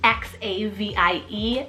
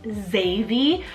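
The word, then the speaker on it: Xavie: now this one's edgy because it's x-a-v-i-e zavy I also just I really enjoy these sorts of sounds Xavi with that Zed it just sounds cool but with the x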